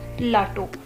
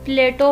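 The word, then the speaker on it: Plato: तो एक Greek philosopher है प्लाटो, और कुछ लोग प्लेटो पढ़ते हैं, कुछ लोग प्लाटो पढ़ते हैं, कुछ लोग इस तरह से इसको प्रोनाउंस करते हैं।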